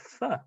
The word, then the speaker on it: pho: The soup traditionally eaten for breakfast is pho, spelt pho, but apparently pronounced pho.